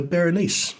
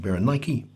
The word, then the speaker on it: Berenice: he and his sister berenice which is probably pronounced byron nike publicly appealed for khan